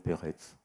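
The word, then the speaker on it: Perec: Alors que mon père, quand il lisait le nom de Pérec, il disait toujours Peretz, parce que le C se prononce C, le C, oui. et non pas K.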